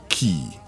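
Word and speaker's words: quay: So it's Q Q U A Y is key. Yeah. Not George Qui. It can't be Qui.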